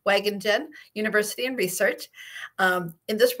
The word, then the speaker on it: Wageningen: And yes, it's a difficult name of the university to pronounce for not Dutch-speaking people. It's a Wageningen University and Research, small town in the central part of the Netherlands.